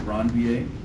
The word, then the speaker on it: Ranvier: They're called nodes of Ranvier. For those of you that are curious, that is the correct way to pronounce that.